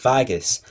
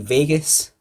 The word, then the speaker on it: Vagos: Lucius-C-Sulla, and PrinceofVagos, and I think it's pronounced Vagus. I quite like Vegas, but I'm pretty sure he wants it to be pronounced Vagus.